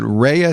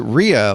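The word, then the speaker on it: Rhea: By the by the way, I uh I am very taking great pains to pronounce it. Rehea Seahhorn. Okay. Because I pronounced it Ria last time and I got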